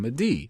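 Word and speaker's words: מדי: But it is phonetically in Obri, Paris and Madi.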